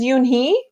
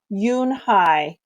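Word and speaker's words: Unhei: Yes, it's pronounced Yoonhai. And it means grace, Mr. Kim added. Yoonhai, Joey said slowly, and this time perfectly.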